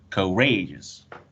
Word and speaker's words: courageous: right courageous yes it has three syllables uh co co rages and uh the stress level it's in the second one it's the second the second level rey courageous that's right very very